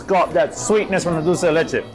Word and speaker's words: dulce de leche: Is that how you pronounce it? Dulce de leche, yes.